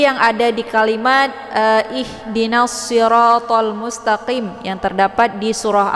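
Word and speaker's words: الصراط: Jadi bunyi yang sebenarnya di situ adalah siratal, shad dengan bentuk huruf shad. Jadi yang kita baca adalah siratal mustaqim. Nah, itu bacaan yang benar. Tapi kalau misalkan kita membacanya dengan bunyi sin, yaitu sirotol, bukan dengan shad tapi dengan sin, sirotol.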